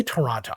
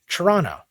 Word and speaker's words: Toronto: We say Toronto. All the letters are missing. Basically, the way I pronounce it, it would be spelled like Churronno.